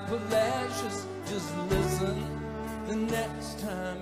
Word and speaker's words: Palacios: Pronounce it Refugio. City folks, they don't know. It looks like Palacios, but sounds like Palacios.